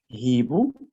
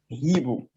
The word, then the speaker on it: hibou: Le hibou et l'histoire. Le H de hibou s'appelle un H aspiré. Vous pouvez prendre des notes. Le H de hibou s'appelle le H aspiré.